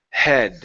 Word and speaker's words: head: It's a light sound, like a breath, like you're breathing. Head.